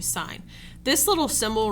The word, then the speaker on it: sine: My pet peeve is when people call this sin. It's actually sine.